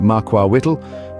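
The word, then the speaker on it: macuahuitl: Aztecs wielded the devastating makua hle the makua Hitt pronounced Maka Wht was a weapon that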